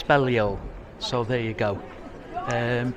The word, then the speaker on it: Balliol: this on I've asked how to pronounce the name of the college and it's Bello so there you go